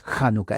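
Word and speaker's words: Hanukkah: realidad es H Ja Y la H no es muda en el inglés es januca en el hebreo tampoco es mula la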